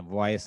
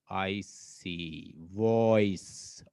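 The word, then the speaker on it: voice: चलें इसको करते हैं, वॉइस है एक लफ्ज, VOIC, वॉइस, ओई, देखे ना, ओई, ओई हमारा क्या बन जाएगा। और मैंने बताया कि ई हमेशा साइलेंट होता है जो आखिर में आ जाए।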